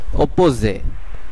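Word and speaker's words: opposer: এরপরের শব্দটিতে শেষের একটা সাইলেন্ট থাকবে। অপোজে অপোজে অপোজে যার অর্থ বিরোধিতা করা আপনারা বাংলাতেও দেখতে পারছেন এটার উচ্চারণ হবে অপোজে এরপরের শব্দটিতে একই রুল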